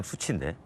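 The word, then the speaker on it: SU7: 수치라는 이름으로 처음에 등장해서 이게 이제 중국 발음으로 그냥 수치인데 한국 사람들이 그냥 수치다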